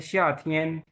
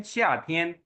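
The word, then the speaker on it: 夏天: उसके बाद है शियाथियन, शियाथियन कहते हैं समर को।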